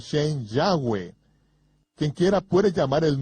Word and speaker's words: Yahweh: ni siquiera lo sabían yo pronuncio su nombre yahwe yo dijo que había cuatro vocales sobre la mitra del sumo sacerdote yot he va he que son pronunciadas como vocales en un solo respiro yahwe fluido yahwe en